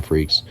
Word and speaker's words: Freecss: you meet is Gon Freecss. And his last name, Freecss, it's not spelled like Freaks.